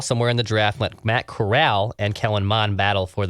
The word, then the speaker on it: Corral: We got a note about this, and I believe it said it's pronounced like Golden Corral. Corral. So Matt Corral.